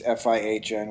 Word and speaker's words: Fihn: to me personally, Fihn, it's Fihn, which is why you were a little confused about how to say it, but it's like just like on a shark.